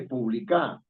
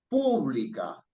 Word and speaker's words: pública: Uno no dice publicar, ni dice publica, sino dice pública. Está en la antepenúltima, ¿no es cierto?